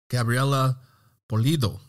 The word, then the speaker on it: Gabriela Pulido: Gabriela Pulido. Did I get that pronunciation?